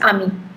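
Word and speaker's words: amie: The pronunciation remains just the same, it's ami.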